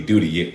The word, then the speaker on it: duty: Duty, duty. La T en duty se pronuncia como una R.